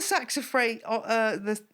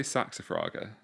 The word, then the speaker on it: Saxifraga: Yeah, I mean, well, on the saxifrage, how do you say it? I say saxifraga.